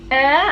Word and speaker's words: Ayr: And yeah, so essentially I am in Air, as I said. A-Y-R is how you spell it, specifically Alva Beach.